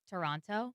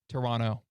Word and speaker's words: Toronto: So Quick, how do you pronounce Toronto? Toronto? Incorrect. How? Toronto. Toronto. Oh, Toronto. Silent second T.